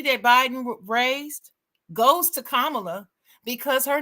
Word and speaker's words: Kamala: talk about Kamala Kam kamla is her name that's how you say it kamla people calling her